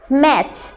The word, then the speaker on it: match: Match. ম্যাচ। এখানে MATCH ম্যাচ হবে কেন? কারণ টি এর সাউন্ডটা সাইলেন্ট থাকবে। টি থেকে কোনো সাউন্ড এখানে আমরা বলার সময় উচ্চারণ করব না, কিন্তু লেখার সময় লিখতে হবে MATCH, ম্যাচ, ম্যাচ।